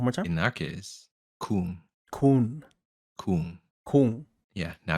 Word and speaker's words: Khuon: No, it's a Vietnamese word. Oh, really? Oh, what does it mean? Go on, share with the people. Ah, well, it's pronounced Coom. So one more time. In our case, Coom, Kun.